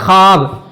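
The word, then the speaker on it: خواب: जैसे कि वाव लिखा हो लेकिन उसको पढ़ा ना जाए। वाह साइलेंट हो उसको वह महदूला कहा जाता है। ठीक है मेरे दोस्त? जैसे ख्वाब लिखा रहता है लेकिन उसको हम क्या पढ़ते हैं? ख्वाब।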